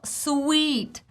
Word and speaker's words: suite: recap it all together sweet long e sound same as Hotel sweet same as piece of music is a sweet yet if I wear